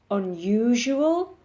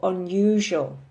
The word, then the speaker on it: unusual: or in the UK unusual can be pronounced two ways it can print be pronounced with four syllables or three so you can say unusual or unusual both are correct okay in the idea